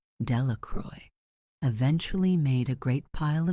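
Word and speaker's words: Delacroix: and Harry Jones and Dicky delaqua the villagers pronounced this name Delroy eventually made a great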